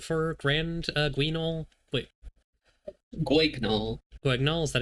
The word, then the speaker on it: Guignol: Guignol, is that how you say it?